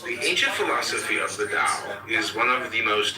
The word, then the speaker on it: Tao: The word Tao, properly pronounced Tao, has lent its name to a way of understanding and living in a world with profound implications for modern societies.